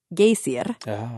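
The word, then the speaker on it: Geysir: on I have to hear it again G gayer which is spelled g y s i r sometimes it's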